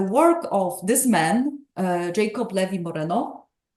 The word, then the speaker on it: Jacob Levy Moreno: of this man uh Jacob Levy Moreno or how he would properly pronounce his name yob Levi Moreno uh is something which